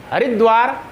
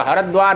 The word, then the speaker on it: हरिद्वार: तो उच्चारण क्या होगा, हरिद्वार, ये गलत है, हरिद्वार, हरद्वार, कोटद्वार, च्यवनप्राश, है ना, ऐसे उच्चारण होगा।